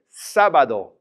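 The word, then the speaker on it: sábado: got that exit there it's three syllables so normally we would stress that middle and stop bad though but the accent comes in and says I'm changing the rules I want you to say the first syllable is stronger so we're gonna say Saba though because the exits are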